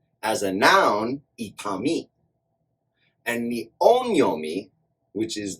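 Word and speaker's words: 痛み: As a noun, itami. And the onyomi, which is the traditional or original Chinese pronunciation of this kanji, is tsu.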